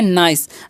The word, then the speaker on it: nice: यहाँ पर आई का उच्चारण आई होगा, क्योंकि ये देखिए आई वोवेल है और फिर से सी कॉन्सोनेंट है और लास्ट में ई जो वोवेल है, तो पहले वाले वोवेल का उच्चारण होता है इस तरीके से अगर मिले तो, ठीक है।